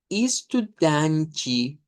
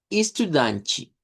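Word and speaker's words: estudante: tenemos ahí, digamos que el sonido más común eh sería este es como isudanchi. Danchi. Nótese la e que se pronuncia como i. Luego la a nasalizada que se vuelve una a centralizada nasalizada y la te e que suena como chiro. Istudan chi.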